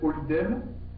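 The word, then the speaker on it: Ålidhem: Le meilleur quartier en termes d'ambiance et en international, on va dire, ça s'appelle Oldem, ça s'écrit avec un A.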